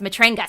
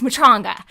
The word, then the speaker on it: Matranga: thing with jonah uh i always say his name wrong you said matronga so i've always said it wrong as matrangas so it's mutronga sorry jonah he'll be the first to be